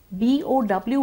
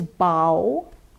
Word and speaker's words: bow: B-O-W has 2 pronunciations. One is bow, B followed by the ow sound. There's also a word called bow, in which we would use B followed by the diphthong O.